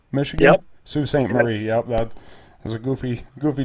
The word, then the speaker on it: Sault Ste. Marie: a second place finish up on, is it pronounced Sault Ste. Marie, Michigan? Yep. Sault Ste. Marie, yep.